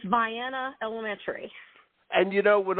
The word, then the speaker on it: Vienna: Pronounce the name of your school. It's Vienna Elementary.